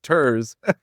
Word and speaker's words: TIRZ: The Tax Increment Reinvestment Zone, I said it wrong for many years. TIRZ brings tears to my eyes thinking of TIRZ. It's TIRZ.